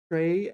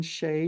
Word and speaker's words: 谁: Yeah, so 谁 and 谁, you can pronounce it both ways.